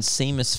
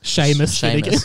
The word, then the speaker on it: Seamus: still and quiet ron weasley hermione granger and seamus finnegan sheamus oh i never read that right are you